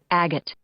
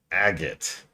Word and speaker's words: Agate: Agate. What language does that come from? Because nothing about that word should be pronounced that way. Yeah, exactly, Blade Devel. Agate. Because it has a G, an A, a T, and an E in that order.